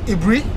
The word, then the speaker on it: Aburi: is a-b-u-d-e yes and the current uh one is a b u r alright a brie yeah much easier to pronounce right yeah i mean